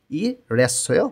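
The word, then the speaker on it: 일했어요: তাহলে আমাদের এখন লিখতে হবে এখানে ই রেস্যয় বা ইল হ্যাস্যয়। কোরিয়ানরা যখন দ্রুত কথা বলে তখন এটার উচ্চারণ হয়ে যায় ইরেস্যয়।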